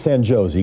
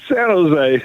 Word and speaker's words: San Jose: Let's go to Bob from San Jose. I think that's how you pronounce it. Maybe it's San Josie. Go ahead, Bob. Yeah, San Jose. Okay. Okay, that's right.